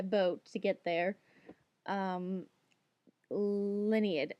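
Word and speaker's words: Lienid: to get there um lineid I always pronounce it my head lineid it may be pronounced other people probably pronounce it differently but in my head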